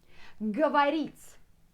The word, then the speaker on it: говорить: Next one, говорить. To speak. Говорить. Can you hear ga, a after g? But here you can see o. Говорить. Говорить, but you spell it like говорить.